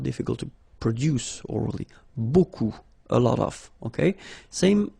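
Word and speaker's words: beaucoup: strange Buu like that remember you don't pronounce the final P okay and then you get this combination of vowels a and you get the sound o so technically it's B okay so it's not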